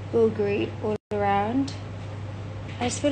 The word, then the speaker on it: Bulgari: look at this Bulgari okay I'm going to bulgary is the correct saying but I don't know